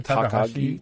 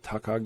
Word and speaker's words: Takagi: Takahashi? Takagi.